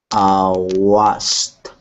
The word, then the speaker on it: washed: Washed. Okay, how many syllables does this have? One or two? Washed. One. One syllable.